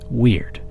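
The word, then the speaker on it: wyrd: Weird, pronounced like the English word weird, but spelled W-Y-R-D, is a Norse and Anglo-Saxon word.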